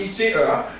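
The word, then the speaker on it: ICÉA: Mais c'est ICEA. J'ai appris ce matin que dans les acronymes, on ne prononce pas l'accent aigu, ni le j'imagine, circonflexe. Ça reste à apprendre, tu vois, mais on dit ICEA.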